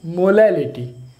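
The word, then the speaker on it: molality: देखिए डिफरेंस है, प्रोनाउंसिएशन में देखिए डिफरेंस है, मोलैरिटी एंड मोलैलिटी, तो उसमें एल आ रहा है।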